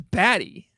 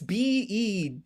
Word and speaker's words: Bede: Their name is Batty. It's isn't it Beady? It's Bede? You think that's Batty? How is that Batty?